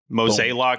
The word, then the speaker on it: Mozeliak: Is it John Mozeliak? Is that the right way? Mozeliak, so Johnny Mo.